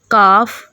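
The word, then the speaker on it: calf: चाक, हाफ, काफ, flock, योक, stock. यहाँ पर जितने भी एल हैं इन एल की साउंड साइलेंट है।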